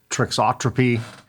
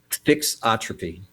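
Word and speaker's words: thixotropy: Uh how do material properties such as viscosity, trixotropy, and if I'm pronouncing that trixotropy? Is that am I pronouncing that right? Fixotropy.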